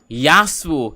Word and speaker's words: Yasuo: We have Yasuo.